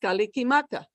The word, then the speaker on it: Kalikimaka: say it two syllables and hawaiian christmas is pronounced kalikimaka now how did all those sounds change my